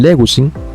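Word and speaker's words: λέγουσιν: mismo sucede también con leguin vemos aquí que leguin también tiene tres sílabas última sí o sin penúltima gu y antepenúltima le entonces vemos aquí que el acento ahora ha pasado a la antepenúltima sílaba Entonces qué sucede aquí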